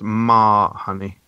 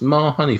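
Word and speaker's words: mas huni: and eaten with flatbread I actually do know this one it's pronounced ma honey okay I'm a YouTube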